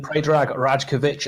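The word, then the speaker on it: Predrag Rajković: don't believe that striker is going to happen pray drag rajkovic a 25 year old six foot two goalkeeper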